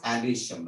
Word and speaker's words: androecium: Pronunciation is Androecium, right?